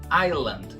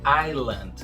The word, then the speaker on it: island: Vixe, essa daqui então é muito comum mesmo pronunciar esse S. Mas na verdade ele não tem som nenhum na pronúncia dessa palavra. Ilha, que é o significado dessa palavra em inglês, fica island, sem pronunciar o S, island. E se você reparar bem, esse D aí no final também não vai ser bem pronunciado não.